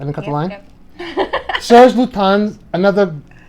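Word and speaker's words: Serge Lutens: Serge Lutin, another. Serge Lutin. There's no S. The S is silent.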